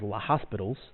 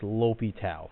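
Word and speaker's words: L'Hôpital: rule I know this looks like it says La hospitals but it's pronounced lopi Tau okay after a great French mathematician so now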